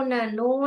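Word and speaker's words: none: जी, ये साउंड न, ये हम न ओ न नो नहीं पढ़ते हैं इसको. ऐसे पढ़ेंगे तो गलत आएगा. ये नन है, ऐसे जैसे नन ऐसे पढ़ते हैं ना, नन, ये वाला प्रोनाउंसिएशन ही इसका आएगा.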